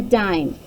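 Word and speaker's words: dîme: It's pronounced dime.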